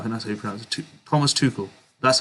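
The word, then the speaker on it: Souček: too cool i think that's okay thomas is too cool that's how you pronounce it yeah i want thomas to call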